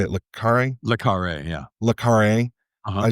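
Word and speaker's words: Le Carré: Le Carre, yeah.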